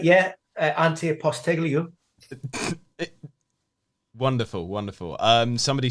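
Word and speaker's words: Ange Postecoglou: say it on the stream all right yeah auntie apostolio wonderful wonderful um somebody said just call him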